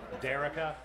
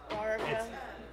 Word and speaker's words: Darica: Derica. Okay. Darica. It's A-A. Dark. So it's Darica? Yeah.